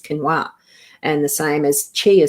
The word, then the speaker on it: quinoa: And that's why I know that quinoa is not pronounced that. It's quinoa.